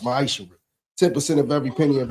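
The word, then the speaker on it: מעשר: Means 10th in Hebrew and is pronounced ma'ishra.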